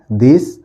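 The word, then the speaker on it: they: अब लिखा है टी एच इ वाई। क्या पढ़ेंगे? थे। नहीं। ये लिखा हुआ है दे।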